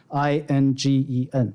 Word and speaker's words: Ingen: is indian.arizona.edu right we go by his japanese pronunciation inc and it's very easy to remember i-n-g-e-n so if you'll remember that it's going to